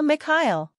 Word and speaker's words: Mikhail: Translator's note, Miha is short for Mikhail. Someone can correct me if I'm wrong, but I believe it's a Russian name and the K is silent.